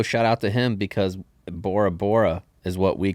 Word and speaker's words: Bora Bora: Also, shout out to him because Bora Bora is what we call it. There is no B sound in like Polynesian language. So, they pronounce it pora pora.